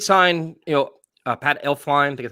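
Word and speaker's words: Elflein: so they did sign you know uh pat elf fine that's how you say his name from the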